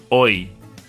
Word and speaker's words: hoy: So the letter H, when it's by itself, makes no sound. Hola, hoy.